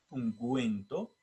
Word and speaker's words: ungüento: pero en ciertas palabras la diéresis marca la sonoridad por ejemplo ejemplo ungüento guero pingüino y ahí se escucha verdad la u la diéresis se escribe